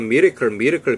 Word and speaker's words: miracle: 근데 미라클의 발음을 미리클 비슷하게 하더라고. Our love is a miracle now.